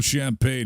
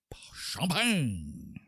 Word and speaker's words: Champagne: No champagne here. It's just pill. This is just Pilsner. My name is Mark Johnson Pilsner. Francois Philippe Champagne. And you have to say it like that.